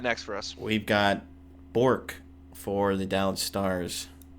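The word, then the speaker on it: Bourque: who you got next for us we've got bour for the Dallas Stars Bor yeah can you spell it like the title of our podcast episode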